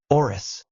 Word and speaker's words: Orus: Asia and east Europe Mongolian usually adds an O before letter pronounced like R so they called Russia as orus instead of rose